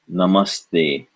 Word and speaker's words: Namaste: an ugly duckling name so this is n Namaste which is probably not the way you originally